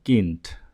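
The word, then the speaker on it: Kind: যেমন খা ই এন ডে উচ্চারণ হবে কিন্ট গে উচ্চারিত হয় কা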